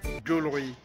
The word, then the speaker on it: jewellery: Le mot se prononce de façon très simple. C'est jewelry. Jewelry.